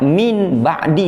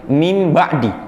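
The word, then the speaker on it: مِنْ بَعْدِ: Caranya kalau mim nun ketemu ba, jangan dibaca min ba'di tapi mim ba'di.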